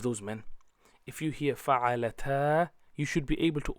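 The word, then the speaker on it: فَعَلَ: So pronunciation will be fa'ala, fa'ala and fa'alu.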